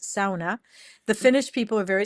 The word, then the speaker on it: sauna: So, I went to Finland last year and I learned that a sauna is not a sauna. It's pronounced sauna.